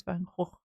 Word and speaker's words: Van Gogh: Oh, we talk a lot about Van Gogh. Van Gogh. Lots of people talk about the pronunciation of his name. Um, the official, is it Dutch pronunciation is Van Gogh.